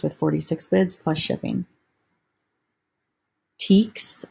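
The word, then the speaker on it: Tieks: Teeks, I think is how this is pronounced. It's T-I-E-K-S.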